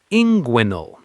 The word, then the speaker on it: inguinal: Snap them together fast. ing. Guin. Say it with me. inguinal.